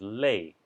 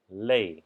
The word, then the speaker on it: 嘞: This is another one, very similar, is lei. Lei, or sometimes people say le, or with first tone le, but I like lei better because that's how they say it in Yunnan province.